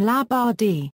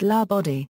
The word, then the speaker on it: La Badie: References: Florence La Badie pronounces her name La Badie. It's French and there is no accent on any syllable. Some well-meaning persons pronounce it La Badie, which makes Florence shudder and say, sounds like a coroner's inquest.